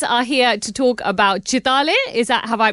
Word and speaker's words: Chitale: So the name of the brand is Chitay Bandhu which means Chetay brothers.